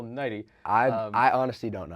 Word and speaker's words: Nighy: I believe you said Bill Nye, but Bill Nighy.